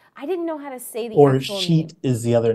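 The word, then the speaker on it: Scheat: Or Sheet is the other name. Sheet? Is that how you say it? Yeah. It's S-C-H. It's like S-Cheat is what it looks like.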